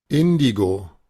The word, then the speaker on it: Indigo: Vaya, lo tenemos y es casi como decirlo en español, Indigo, casi igual. Nada más que debemos tomar en cuenta que la primera no es una I larga, es una I corta de índigo. Y de hecho es la sílaba tónica de esa.